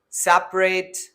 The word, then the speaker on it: separate: or silent vowels, where A in the separate is going to be dropped. Most of the people and most of the English learners, they pronounce it as separate.